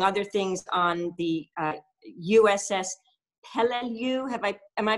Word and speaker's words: Peleliu: she works, among other things, on the USS Peleliu. Am I pronouncing that? Yes. Peleliu.